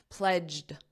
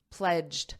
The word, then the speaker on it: pledged: let's review that pronunciation pledged d a very soft D and you need that pledge pledged pledged now when you connect it to the next sound you may not hear that D pledge to restore it